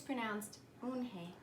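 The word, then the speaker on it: 은혜: "Yes, it's pronounced Eunhae. And it means grace," Mr. Kim added. "Eunhae," Joey said slowly, and this time perfectly.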